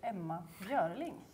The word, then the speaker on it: Emma Björling: Jag heter Emma Björling.